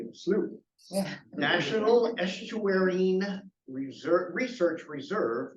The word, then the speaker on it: Slough: by Kate at the Elkhorn Slough pronounced slew National Estuary Reserve research